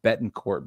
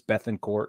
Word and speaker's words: Bethancourt: say that Christian bethancourt I always want to call him Bettencourt but it's Beth and court and it bugs me